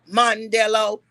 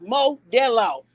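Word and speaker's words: Modelo: Mondello It is spelled on the beer. There is no end in that Okay. It is Mod Del.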